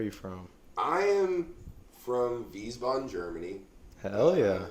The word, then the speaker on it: Wiesbaden: I am from Wiesbaden, Germany. Hell yeah. Yeah, Wiesbaden. You say it with a V, but it's spelled with a W.